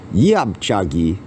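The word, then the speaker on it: 옆차기: I said this is yup chuggy yup Chucky is how we say it in my school yep chagi is how it looks like it would be pronounced in Korean okay spinning hook kick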